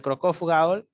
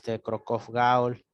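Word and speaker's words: Cockcroft-Gault: creatinina, puedes hacerlo con Crocov-Gaul, ¿ya? Crocov-Gaul se escribe Cockcroft, termina en T, Gaul, ¿ya?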